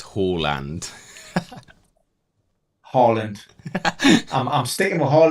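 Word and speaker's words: Haaland: uh guess what Ben apparently we've mispronounced Harland as well apparently it's Hall land Holland I'm staying my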